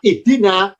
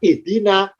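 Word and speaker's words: اهدنا: Yakni, kalau huruf ketiga kasroh, alifnya ikut kasroh. Ya. Agar kita membaca ihdina, bukan karena ikut-ikutan.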